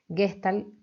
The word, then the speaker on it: Gestalt: Vayan prestando atención a este concepto de totalidad, porque la Gestalt, en alemán, Gestalt, con una pronunciación alemana como corresponde, por supuesto, viene a traducirse como estructura, ¿sí?